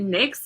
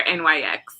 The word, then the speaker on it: NYX: this oh my bad it's it mix or NYX people use either it's entertaining or NYX